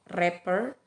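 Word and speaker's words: wrapper: W ini contohnya kata rapper Kenapa tidak disebutkan bukan rapper wenja tidak dibaca karena W itu berada sebelum huruf r-nya sama dengan kata Rachel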